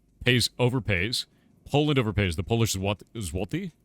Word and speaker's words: złoty: The Polish złoty? I think if I pronounce that right. Złoty. You got to do like a weird thing with your mouth.